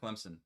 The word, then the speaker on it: Clemson: did say Clemson you said Clemson Clemson definitely Clemson that's you had a p in there in